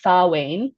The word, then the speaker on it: Samhain: social media, and but it's spelled differently than it's pronounced. So it's spelled Samhain, but because it's Celtic, it's pronounced Samhain.